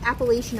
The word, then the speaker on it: Appalachian: do you say that do you say appalachian or mountain appalachian appalachian see we i say appalachian and then anybody else i talk to says appalachian appalachian i never heard it